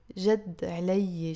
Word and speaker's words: جد علي: جد علي شي كتير ضروري. And you will always almost pronounce it with the liaison as جد علي. There is a شد here.